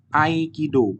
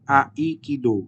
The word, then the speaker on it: Aikido: Misalkan Aikido di sini dibacanya Aikido, bukan Aikido, seperti itu ya. Dibacanya seperti ada huruf Y yang setelah huruf A itu ada Y seperti itu.